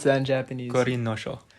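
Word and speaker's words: 五輪書: I was going to try to pronounce how do you pronounce that in Japanese? Gorin no Sho. Gorin no Sho.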